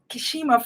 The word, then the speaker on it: Kermisha: I called your name, Kishima.